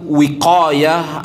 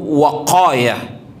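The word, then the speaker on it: وقاية: itu berasal dari kata-kata wiqayah atau waqayah ada dua cara membacanya bisa dibaca wiqayah atau waqayah tetapi yang paling fasih di dalam tata cara membaca ini adalah waqayah waqayah adalah sesuatu yang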